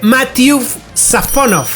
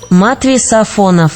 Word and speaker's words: Matvéi Safónov: Bueno, su pronunciación correcta, su nombre más bien, se dice Matvey Safonov. Matvey Safonov. Es más o menos el nombre de este señor.